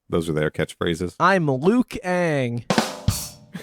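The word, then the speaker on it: Liu Kang: are their catchphrases i'm lukang it's actually luke aang you guys have been saying it wrong after the avatar lucas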